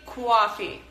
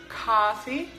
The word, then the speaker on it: coffee: coffee the word coffee if you are a New Yorker or if you live in New York you will probably hear people say coffee coffee coffee talk that's just something that's very typical for New Yorkers but anywhere else in America people say coffee coffee so you have to drop your jaw again and say ha feed coffee so I'm a big